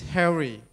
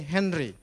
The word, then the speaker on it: Harry: And then the second one is Harry. Vietnamese friends always call me Henry. I don't know why. Yeah. Maybe of the pronunciation problem.